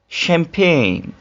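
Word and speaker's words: champagne: एक नजर डालिए sign design sign design Ferran शैंपेन आपने इन को देखा इन सब में एक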